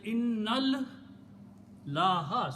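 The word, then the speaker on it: إن الله: We are pronouncing inna Allah. We are not saying inna Allah. We are saying innal laha. So noon we are combining with this lam.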